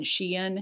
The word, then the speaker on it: Shein: website but also on xi'an is how you say it shein the packaging is also